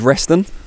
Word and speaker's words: Resztan: out with demi jade reston i've pronounced that correctly we're just saying off camera you've got a random zed in the middle of your name that throws people off